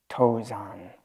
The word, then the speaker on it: Tozan: In Japanese, we pronounce it Soto. And Dongshan is Tozan.